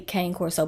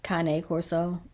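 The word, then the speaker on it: Cane Corso: channel diesel was a seven-year-old um we say Kan Coro but I believe that is pronounced Kane Corso uh Italian Mastiff and we had diesel for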